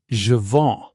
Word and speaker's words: je vends: Take a look at je vends or j'attends. You don't pronounce the s and you don't pronounce the d.